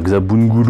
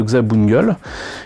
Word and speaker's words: Xabungle: xam bonne gueule alors normalement je devrais dire gsab bungudu mais bon ça fait un peu bizarre je vais me prononcer entre guillemets à la française donc une maquette de gza bungle qui si je me